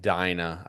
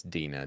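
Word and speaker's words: Dinah: Some people would pronounce it Dina. I It's Dena to me.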